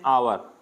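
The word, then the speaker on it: hour: कैसी है जैसे आवर तो एन आवर साउंड किसका आ रहा है आ का आ रहा है एन आवर एच साइलेंट है यहां पे अब अच को नहीं देखना यहां पे एच देख के ए नहीं लगाना है इनको बोल के देखना आवर यानी एच साइलेंट है तो साउंड कैसा आ रहा है ओ तो एन का आ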